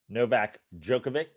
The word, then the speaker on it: Novak Djokovic: Is it how do you pronounce his name? The tennis player. Novak Djokovic.